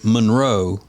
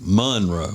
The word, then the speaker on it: Monroe: It's west, and most people would say Monroe. And Monroe. put the accent on the row, but in Louisiana it's Monroe.